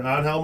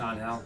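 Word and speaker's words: Ángel: Uh uh Angel Martinez or Anhal Martinez. You know that one. It's on Hell. On most of the time it is, right? Yeah. There's not too many angels.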